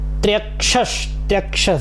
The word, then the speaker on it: त्र्यक्ष: वरदाभयाङ्कः वेदाक्षमाला वरदाभयाङ्कः त्र्यक्षश्चतुर्वक्त्र त्र्यक्षस देखिए आधा त्र य और क्ष त्र्यक्ष, ठीक है। त्र्यक्षश ये वाला सब ले लेंगे साथ में।